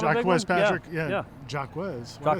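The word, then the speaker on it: Jacques: Jacquez. It's Jock Patrick.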